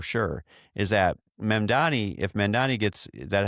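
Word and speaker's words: Mamdani: But I can tell you one thing for for for sure is that Mendani, if Mandani gets is that how we pronounce his name?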